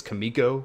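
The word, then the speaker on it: Kamiko: are good options to get you know commits Kimiko is how you say it very good five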